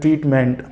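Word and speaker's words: treatment: बहुत से लोग ट्रीटमेंट बोलते हैं, जबकि मेंट प्रोनाउंसिएशन गलत है. When we talk about the right pronunciation, that is ट्रीटमेंट. Okay, ट्रीटमेंट. बहुत छोटा सा आपको स्ट्रेस देना होता है, जबकि बहुत ज़्यादा स्ट्रेस आमतौर पर लोग देते हैं मेंट पर.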